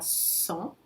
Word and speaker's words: sans: Novamente o S não se pronuncia se vem sozinho na frente de uma consoante, mas aí depois vem uma vogal. Então vou fazer a liaison com som Z. Il ne veut pas partir sans eux.